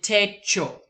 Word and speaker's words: techo: So notice my body did techo.